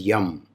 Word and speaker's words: Yam: For Anahata, it is Yam, Y-A-M.